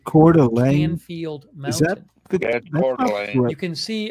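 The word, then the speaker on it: Coeur d'Alene: And then there's the city of Delane where about 57,000 people live. Then Canfield Mountain is next to it. And this is it was a popular hiking. I pronounce it Cordelane.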